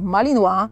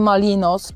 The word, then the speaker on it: Malinois: Jak mogliście już usłyszeć naszymi bohaterami byli dzisiaj malinois a nie malinos czy malan podobnie grendel też nie